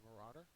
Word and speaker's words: marauder: he uh is a Marauder it's a noun second syllable is accented it is a raider